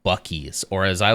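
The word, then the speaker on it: Buc-ee's: e Dash e e it's supposed to be bies but that sure does look like bues to me um but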